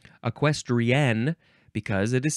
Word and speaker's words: equestrian: next word is equestrian you do have to emphasize that last syllable equestrian because it is spelled